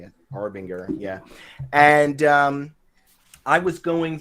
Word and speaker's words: Arbinger: Arbinger, yeah.